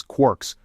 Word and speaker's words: quark: talking about his ideas referred to these subhydraic fragments as quirks rhyming with pork.